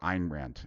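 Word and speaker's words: Ayn Rand: was a protege of an rant or eine rant if you want to pronounce it correctly and Nathaniel Branden has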